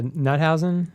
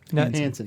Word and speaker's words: Hansen: I just grabbed the Nuthausen. Is that how you pronounce it? Hansen.